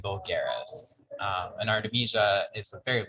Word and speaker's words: vulgaris: So it's Artemisia and vulgaris.